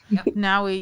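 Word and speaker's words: Nawi: Yeah, no, I was gonna say Naui. Am I saying it correctly? Naui, yeah.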